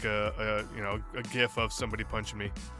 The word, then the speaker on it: GIF: I'm not going to say GIF. I'm going to say GIF. Because you spell graphics, or you pronounce graphics with a G. Graphics, not graphics.